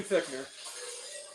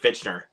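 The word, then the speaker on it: Fichtner: good one to go for yeah thickener William fichner that's how you pronounce his name the signer it's not it's it literally looks like fitchner I know it does by the way speaking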